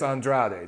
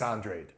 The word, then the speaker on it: Andrade: It looks like Demetrius Andrade. That's what you want, but they pronounce it Demetrius Andrade.